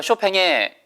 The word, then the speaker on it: Chopin: 정도 하시면 될것 같구요 쇼팽의 chopin 이에요 그렇죠 핀 일하고 있지 않습니다 원래 발음대로 살려서 쇼팽 쇼팽의 이렇게 읽어요 아 지게차 그래서 쇼팽이